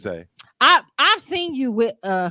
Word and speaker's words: Zah: Okay, I respect that, but my name is Zay, but it's just spelled Z-A-H.